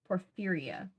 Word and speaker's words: porphyria: Porphyria.